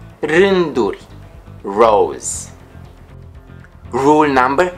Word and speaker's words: rânduri: The letter R is rolled or trilled. For example, rânduri, rânduri, rows.